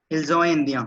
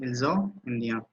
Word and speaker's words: ils sont: I mean हाँ उसका pronunciation मुझे इल्जो इंडिया, ठीक है, इल्जो इंडिया।